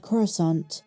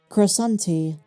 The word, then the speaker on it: Coruscant: In one scene, Count Dooku mispronounces the word Coruscant, and instead, he says Coruscanti. I think he went Italian for that one.